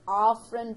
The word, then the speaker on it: afferent: motor or efferent division I always like to pronounce it as afferent and efferent so that you don't may make a mistake between the are and the e okay so as oh if